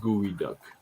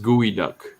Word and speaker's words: geoduck: yeah okay it's pronounced it's pronounced gooey duck it's like duck oh yeah yeah jesus